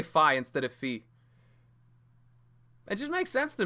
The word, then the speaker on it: Fi: I pronounce it as Fee. The Zelda character from Skyward Sword, I pronounced her name as Fee.